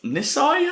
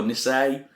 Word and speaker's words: Nisei: episode 9 and it's entitled miss I I think that's a pronounces yeah miss I or Nisei and directed by David